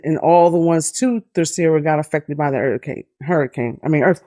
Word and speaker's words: Terceira: So it was on the Terceira is the proper way to say it.